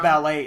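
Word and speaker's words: balut: you shane huevos it's called ballot egg it's pronounced ballet egg okay actually it's b-a-l-u-t oh so it's like ballot like a i guess like almost you'd say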